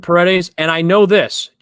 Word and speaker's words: Paredes: his last name isaac i went paradise but that is absolutely wrong i think i don't correct i said paredes and i know this